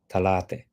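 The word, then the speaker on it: ثلاثة: Thalatha, which is 3, would be talate. And khamsa goes to khamse.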